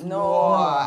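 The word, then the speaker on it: Knoir: K-N-O-I-R, and the K is silent, so it's Noah. It's Noah.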